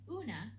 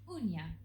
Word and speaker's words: uña: In Spanish spelling, this mark above the N indicates that rather than una, the word should be pronounced uña.